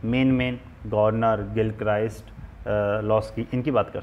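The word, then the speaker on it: Garner: तो इन विचारकों में हम गॉर्नर, गिलक्राइस्ट वो गॉर्नर की जगह गार्डनर भी बोलते हैं, गॉर्नर बोलते हैं, प्रोनाउंसिएशन का अंतर है।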